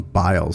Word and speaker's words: Biles: producer tells me i i pronounced her last name wrong it's simone biles so i apologize if